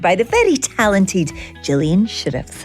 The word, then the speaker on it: Shirreffs: to be joined by the very talented Jillian sheriffs how are you Jillian I'm fine thank you I did pronounce that correctly you did sheriffs is a bit of an odd one it's